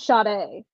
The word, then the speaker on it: Sade: I met a girl whose name was spelled like Sadie, but it was Sade. Oh, Sade.